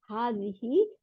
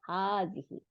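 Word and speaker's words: هذه: মহিলা ফ্যামিলিন মানে মহিলা ইট ইজ প্রোনাউন্স হাজিহি দেখেন বানানটা দেখেন এটার প্রোনাউন্সিয়েশন উচ্চারণটা কিরকম হবে হা আলিফ জবর তারপরে এক আলিফ টান দিতে হবে হার মধ্যে তাই না তারপরে যার নিচে জের হার নিচে জের হাদিহি but Alif is omitted in writing কিন্তু লেখার মধ্যে এই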